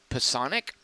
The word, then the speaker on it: Psionic: That is how you pronounce that word, as I learned in 7th grade. Psionic.